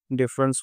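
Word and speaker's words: deference: इसका सही उच्चारण या प्रोनाउंसिएशन डिफरेंस होता है।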